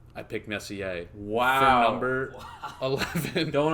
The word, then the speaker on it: Messier: Which we don't even know if we're pronouncing Messier correctly. I think it is. I think it is Messier.